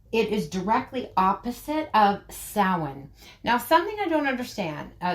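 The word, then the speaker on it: Samhain: right and um people make a point of pronouncing it correctly sin right but belt is always said as belt when it's not.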